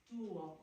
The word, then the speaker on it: tuo: Tuo, mio. It's all the emphasis is on the first part and not the second.